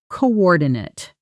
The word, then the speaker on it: coordinate: Let's add another one from the same family, coordinate. As a verb, meaning to organize different people or things to work together effectively. It's pronounced with 4 syllables, and that last part sounds like Nate, rhyming with gate.